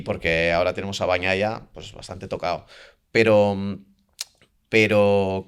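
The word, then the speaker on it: Bagnaia: tal y de bañaya, me dijeron bañaya, como si fuera para nosotros una ñe bañaya. Y yo lo repito así. Es verdad que hay gente que además dice lo de Bagnaya, ¿no? Pero a mí me dijeron, "No, no, esto es como si fuese una eñe, quizás no tan pronunciada como eña, así que Bañaya, eh,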